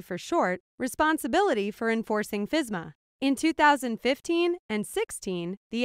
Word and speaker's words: FSMA: The Food Safety Modernization Act, commonly shortened to FSMA and pronounced FSMA, is a federal law.